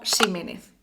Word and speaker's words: Ximénez: Este sonido arcaico se conserva en el español de México y en otras zonas de América con origen náhuatl. También la pronunciación arcaizante de algunos nombres o apellidos como Ximénez.